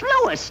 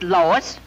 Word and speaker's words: Louis: Me name is Lewis, not Lois.